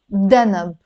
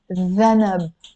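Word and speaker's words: ذنب: But in standard Arabic, it's written with a dhanab, which is a tail. But in Lebanese, we pronounce it danab.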